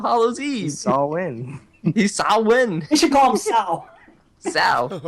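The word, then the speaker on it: Samhain: though right nobody called it's the only time I ever heard it called Sam Heen in my life is in Halloween too I've never even heard of sawwin before really yes but it's it's spelled like Sam I know that yeah so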